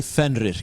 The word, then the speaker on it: Fenrir: Say Fenrir. Pronounce it correctly.